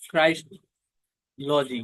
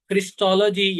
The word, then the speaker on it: Christology: अल्फाज मिलकर बनते हैं क्राइस्टोलॉजी, यानी क्रिस्टोलॉजी या क्राइस्टोलॉजी। इसकी दोनों प्रोनाउंसिएशन दुरुस्त हैं। कुछ लोग क्राइस्टोलॉजी कहते हैं, कुछ लोग क्रिस्टोलॉजी कहते हैं।